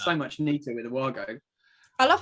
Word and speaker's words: WAGO: much neater with the wago i love how you say it i'm gonna start saying it like that but it's actually vargo because it's german but everyone says it